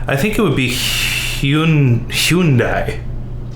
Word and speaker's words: Hyundai: So the next one is a car that in Kenya I would pronounce as Hyundai. Hyundai. Hyundai. Hyundai. So in America, we don't pronounce it correctly in America either. We say Hyundai.